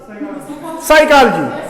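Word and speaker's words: psychology: और आपने सुना होगा ना वो साइलेंट, PSYCHOLGY, फिजिकॉलजी, साइकोलॉजी। क्यों? क्यों? क्योंकि प साउंड वहां साइलेंट होती है, प साउंड वहां प को साइलेंट रखते हैं।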